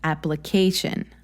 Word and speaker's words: application: one so maybe like application application a a application yes again on that a vowel sound that comes in the middle of the word towards the end maybe the applique so the third syllable exactly so if you